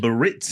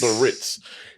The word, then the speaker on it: Biarritz: No, it's Cadalee Biarritz. Biarritz.